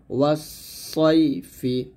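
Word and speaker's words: وَالصَّيْفِ: ইলাফিহিম রিহ লা তাশিতাই ওয়াস-সাইফি। এখানে সদ উচ্চারণটা মোটা করতে হবে যেন সিনের মতো না হয়ে যায়, এটা ঠিক মনে রাখবেন। ওয়াস-সাইফি, ওয়াস-সাইফি, আর থামলে হবে ওয়াস-সাইফ, ওয়াস-সাইফ, এরকম থামতে হবে।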